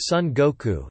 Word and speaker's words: 孫悟空: Zedong in Japanese, and the name of the legendary Monkey King, Sun Wukong, is pronounced Sun Goku, Sun Wukong in Japanese.